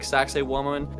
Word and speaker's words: Saqsaywaman: old Incan ruins like saqsaywaman it's kind of pronounced like sexy woman which you probably caught